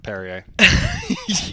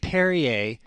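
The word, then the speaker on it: Perrier: can't figure it out how do you get perryer at a p r r i e r there's an extra r at the end that nobody's pronouncing I don't get it how can an R just disappear well it's like Mark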